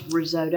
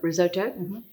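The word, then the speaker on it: risotto: carb Roto okay and it's pronounce risoto Roto risoto it's Italian right right okay with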